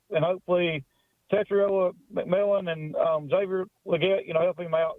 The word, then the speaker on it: Xavier Legette: You pronounced Xavier Legette and Teteroa McMillan's names correctly.